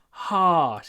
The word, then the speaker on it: harsh: you need to Har not harsh harsh it doesn't work if you don't open your mouth harsh harsh so we